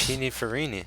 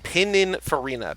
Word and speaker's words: Pininfarina: Is that how it's pronounced? Is it Pininfarini's making their own cars now? It's this. Pininfarina. Pininfarina.